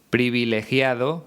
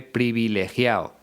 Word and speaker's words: privilegiado: por ejemplo es que no suele pronunciar la d en los participios por ejemplo en vez de decir privilegiado dice privilegia o es el lenguaje de